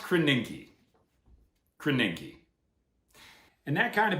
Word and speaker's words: Krasinski: It's pronounced Krasinski.